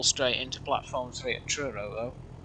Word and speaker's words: Truro: into platform three at Truro you probably pronounce it like churro was in city of churro the locomotive but yeah